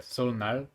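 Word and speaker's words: 설날: Like sometimes in English it's spelled with an N in it, like Solnal, but then there's no N. That's the weird thing is that, I think it's because it's the Nal is the day, so it's the day of the Sol with the New Year is Sol Nal, but people don't pronounce the N so much.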